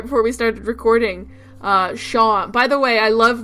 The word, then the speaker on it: Seam: we started recording uh Shan by the way I love the joke about about seam the cat his name isn't seam he says it's sha like how you pronounce sha